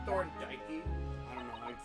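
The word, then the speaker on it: Thorndyke: of art really The Thorn dyy Academy of Fine Arts did you say Thor dyy I don't know Thor the E is silent thorn thorn okay so okay so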